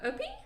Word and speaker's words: Opie: We've got a 4-year-old Opie. Is that how you say it? Opie.